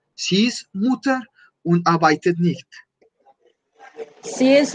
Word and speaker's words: Mutter: Entonces es muy importante en la pronunciación, por ejemplo, que acá la haga sin el umlaut para indicar el singular. Sie ist Mutter und arbeitet nicht.